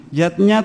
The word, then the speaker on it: yajna: artinya lima macam selamatan yatnya tulisannya yajna Ayah Bunda tapi membacanya yatnya yang pertama adalah dewayatnya